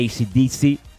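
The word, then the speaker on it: AC/DC: de mi banda favorita acs para los amigos e isi disi la pronunciación correcta el disco es back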